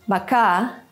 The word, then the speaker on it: bāka: Consider baka and baka, or pito and pito. You can also hear how the stressed vowel is pronounced longer.